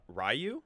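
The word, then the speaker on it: Ryu: Rayu.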